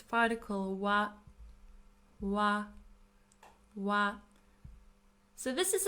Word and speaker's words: は: When we use it as a non-particle, we pronounce it as ha.